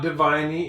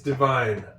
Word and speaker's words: divine: Notice I got a couple of silent e here. One in forgive. It's not forgiving and one in divine. It's not diviny. It's divine.